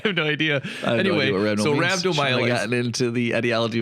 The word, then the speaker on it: rhabdomyolysis: Today's topic is rhabdomyolysis.